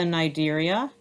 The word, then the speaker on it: Cnidaria: Okay, and then the Cnidaria, again, the C is silent.